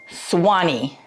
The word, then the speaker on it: Suwanee: suani Georgia you are in for treat because Swani is a unique and vibrant place with a bit of twist in its name it's spelled s u w n but it is pronounced as Swani why the twist well it has a fascinating